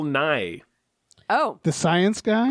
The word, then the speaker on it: Nye: weird like no obviously i love bill nye or nihi i've i don't know how to pronounce his name actually i think yeah uh i think you were right the first night it's bill nye oh the science guy